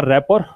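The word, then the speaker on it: rapport: अगला शब्द था रैपर, मैंने कहा था इसका प्रोनाउंसिएशन रैपर है, इसमें टी का उच्चारण नहीं होता है, नाउन है ये शब्द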